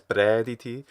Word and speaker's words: praediti: Also, the way he says praediti, it sounds a little bit closer to praediti or praediti. almost leaning towards prediti, which we know is a rustic Latin pronunciation and eventually becomes the dominant pronunciation of Latin in the following centuries,